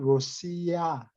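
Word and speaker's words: Россия: 러시아 하면 우리는 러시아라고 그러는데 러시아 말로는 로시아, 야 발음이 이렇게 알자를 이렇게 뒤집어 놓은 것 같이 돼 있어요.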